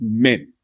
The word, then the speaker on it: man: Man m an is pronounced as men in the southern part of Africa.